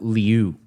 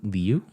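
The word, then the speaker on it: Liu: L I U is her last name. Leu Lu. There's an I in there. I know it, but it I is silent when it comes before a E. It's not before an E. It's before a U or before a U. Before another vow.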